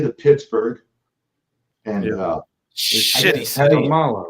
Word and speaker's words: Kamala: It's Kamala, like come along.